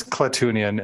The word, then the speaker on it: Klatooinian: I've always pronounced it Klatooinians because that's how it's spelled. Well, it's with an I. I've never tried to say it in my life, so. But he says Klatoonian in this episode.